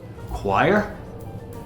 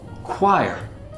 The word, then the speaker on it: choir: Choir. Often mispronounced choir. Choir. People have a hard time with this one because it's not pronounced the way it's written, but it's choir.